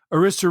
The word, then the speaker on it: Arista: So 1979 comes around Arista records or Arista I've always said Arista but I've heard it pronounced the other way so which whatever way you want to pronounce it orisa records demands new music